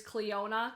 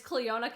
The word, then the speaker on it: Clionadh: So the first thing I want to let you guys know is the brand is Clionadh Cosmetics. That's how it's pronounced.